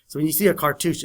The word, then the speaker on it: cartouche: Okay, let's see if I can spell that. Cartouche. Cartouche.